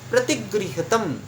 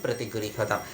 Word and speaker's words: प्रतिगृह्यतम: आ गया है कि प्रतिगृह्यतम ये जब हम कह रहे हैं तो कई समय जो है वो अनुस्वर के रूप में हमारे कर्ण में यानी हमारे कान में सुनाई देता है, पर वो म होता है दोस्तों।